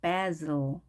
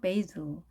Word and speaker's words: basil: baz 혹은 에 대신에 a 이렇게 발음을 했네요. 강세는 앞에 a에 있겠습니다. a에 있습니다. 따라서 basil 혹은 basil 이렇게 발음하네요. basil.